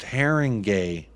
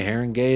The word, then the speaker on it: Haringey: Windows uh Barry shuttleworth haringey is pronounced haringay all right Heron gay it is proposed rule change